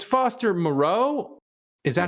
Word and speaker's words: Moreau: So it's Foster Moreau.